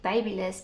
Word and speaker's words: BaByliss: how you pronounce it i pronounce it babyliss because it's baby less anyway um i'm not